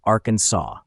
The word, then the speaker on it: Arkansas: state's name so if you're visiting remember it's pronounced Arkansas not Aransas California the golden state has its